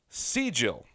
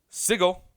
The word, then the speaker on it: sigil: it up on Google they're telling me it's C Jill like C Jill I am southern and why so I used to pronounce it sigil and was told that was like the best